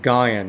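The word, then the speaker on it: Guion: My name is Guyon, and it's spelled G-U-I-O-N.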